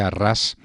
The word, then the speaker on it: Arras: pueblecito de francia llamado arras lo estamos pronunciando así como se escribe a ras maximiliano robespierre 1758 quiere